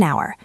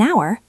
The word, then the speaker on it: hour: An hour. An ends with N. Hour starts with a vowel sound. The H is silent.